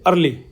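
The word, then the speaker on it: early: में कब होता है अब देखो ई के आगे ए आ गया ई भी वल है ए भी वल है तो इसका उच्चारण ए बन जाता है अ ठीक है जैसे ई ए आर एल वाई क्या कैसे बोलेंगे प्रशासन करेंगे अर्ली अर्ली तो इसका बन गया ठीक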